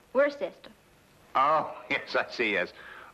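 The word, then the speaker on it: Worcester: We're sister. Oh, yes, I see. Yes. Lord Worster.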